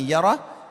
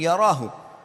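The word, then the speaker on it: يره: Wa man ya'mal mithqala dzarratin syarran yarah. Kalau diberhentikan bacanya yarah, tapi kalau dibaca langsung yarahu.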